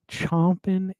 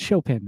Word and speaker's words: Chopin: Chompin' is great potato vodka. Oh, Chopin. How do you pronounce that? That's Chopin, right?